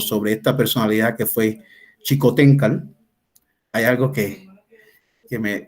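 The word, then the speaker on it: Xicoténcatl: chicoteca Generalmente lo escribe se escribe con x y como nos hemos acostumbrado a que la x va a j uno dice xico tenca y quizás por eso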